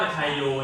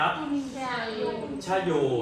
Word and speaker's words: ไชโย: ไชโย คำ สุด ท้าย นัก เรียน ชอบ ออก เสียง ว่า ไชโย ใช่ ม แต่ เ ออก เสียง แค่ อะไร ครับ ชะโย นะ ลูก ชะโย ชะโย ดู เ ร้อง ดี